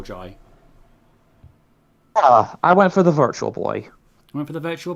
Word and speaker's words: Virtual Boy: I'm trying to say virtual and not virtua, like Americans would say, but it's Virtual Boy.